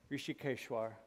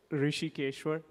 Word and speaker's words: Rishikeshwar: Rishikeshwar. Say it again. Go ahead, just say that. Rishikeshwar.